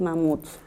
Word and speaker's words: mamuts: Muy bien, en esta oración la palabra especial es mamuts. ¿Qué pasa con ella? Cuando yo la silabeo, digo mamuts, la última sílaba es tónica. ¿Eso qué quiere decir? Que es una palabra aguda.